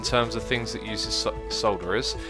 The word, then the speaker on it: solderer: things that uses solderers some people say they should be pronounced sodura or like I've I've read a lot of comments from people saying how to pronounce this word I've never ever until coming on YouTube heard anyone call it something different than a solderer